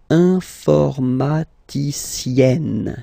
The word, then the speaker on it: informaticienne: And then, if you look carefully, then here, okay, you will have to double the N. And then add this final E, okay? And you get the sound informaticienne, sienne. Remember E and then double